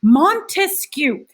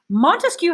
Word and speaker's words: Montesquieu: you're illustrating the concept montesquieu montesquieu has three syllables say it out loud montesquieu he goes back to